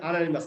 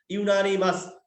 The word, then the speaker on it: unanimous: দেখেন জুরি dash ইউনিমাস, ইউনানিমাস, ইউনানিমাস, উচ্চারণটা কিন্তু আনানিমাস না, ইউনানিমাস, মানে সর্বসম্মতিক্রমে, তার মানে কি একমত হয়ে একটা ডিসিশন দিছে, একমত।